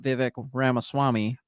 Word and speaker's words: Vivek Ramaswamy: And I haven't really read much about Vivek Ramaswamy. Is that how you pronounce the name? Yes.